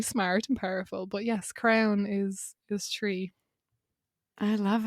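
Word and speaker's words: crann: tree in irish the irish for tree is crown um it's spelled c or a n n but pronounced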